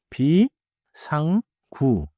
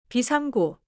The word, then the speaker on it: 비상구: Now 비상구 three syllables 비상구 비상구 좋아요.